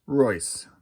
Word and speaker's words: Reuss: Russ or Roos. Race. Large guy. 6'5", 227. From St. Louis, Missouri. Let's see. Not Mary. Jerry. Yeah, there he is. American baseball player. Royce. Pronounced Royce.